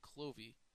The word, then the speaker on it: Clovis: he dies um yeah Clovis actually I learned today was actually the first king of France but they pronounced it clovy so I guess that's